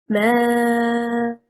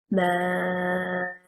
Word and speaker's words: ما: Also a word, ما, and stressing on the first حركة, حركة الميم, it means water and is one word. If we stress on the second حركة, حركة الهمزة, and we say ما, and it separated al-hamza from al-mim.